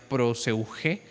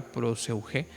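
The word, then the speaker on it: προσευχή: oración, introduciendo la palabra, una palabra nueva que en griego se pronuncia proseugé, ¿verdad? Así es esta palabra proseuge, lo cual cambia la perspectiva y la práctica de la oración de manera total.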